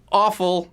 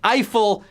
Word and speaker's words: Eiffel: one in Las Vegas it's not pronounced awful not even if you live in Texas no its Eiffel Tower Latorre fell Gustave Eiffel